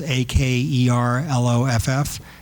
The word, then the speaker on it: Akerlof: Akerlof is Akerloff, and Shiller is Shiller.